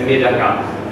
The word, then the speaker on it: medaka: In italiano il nome è pesce del riso o metacà, la pronuncia, se vogliamo usare la pronuncia giapponese, è con l'accento finale sulla A, quindi diciamo il nome sarebbe metacà.